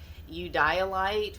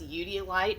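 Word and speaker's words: eudialyte: was looking for dioptase i was looking for you dialite which i used to pronounce eudeolite because i'd only ever read it so i was corrected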